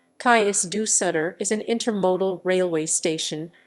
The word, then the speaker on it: Cais do Sodré: station the kai's do solder railway station portuguese pronunciation kais du sutter is an intermodal railway station in the civil